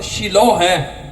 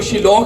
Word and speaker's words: Shiloh: जब आप इंग्लिश को पढ़ेंगे तो SHILOH है, शिलो। इसको शिलोह भी पढ़ते हैं, इसको शिलवा भी पढ़ते हैं, लेकिन इंग्लिश प्रोनाउंसिएशन और हैब्रू इसको शिलो ही बोलते हैं।